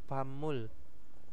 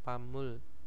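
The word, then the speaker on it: 밥물: ee Bam bab bab Mul yaitu bacanya PAM Mul ya pam Mul pamul itu adalah ee air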